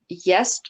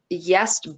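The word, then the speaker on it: Gjest: For most of the articles I read, this guy, Jest Bardson, is how I think it's pronounced, because his first name starts with a GJ. So I'm just going to pronounce that as a Y sound.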